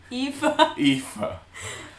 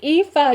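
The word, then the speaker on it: Aoife: fifa which how to say it i wait pronounced eva i used to think that this was fiona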